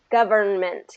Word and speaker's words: government: so governor government so the trick is just that n in the middle govern government so you're going from the end to the m government compliment good and it's first syllable stress can i do the